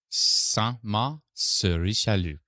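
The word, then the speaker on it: Saint-Marc-sur-Richelieu: Saint-Marc sur Richelieu. In that area? one storm at a time, I'll try to learn how to pronounce things in French.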